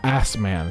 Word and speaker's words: Asman: It's pronounced Assman, Susato.